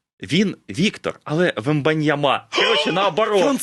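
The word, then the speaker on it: Wembanyama: Ні, ну французи, якщо не стоїть наголос, то завжди на останній. Короче, ми програли обидва. Всесь. Тобто ми його називали цілий рік Віктор Вембаньяма, а він а він Віктор Вмбаньяма.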